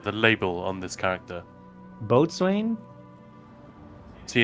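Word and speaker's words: boatswain: label on this character batain see in England that is pronounced bosen oh it's not mental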